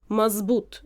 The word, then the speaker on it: مظبوط: adding to what Eric was saying, yes, the letter in standard Arabic is pronunciated in Egyptian Arabic as z, mazbut, okay, we say, and the dad sound sometimes is transformed into z sound as well.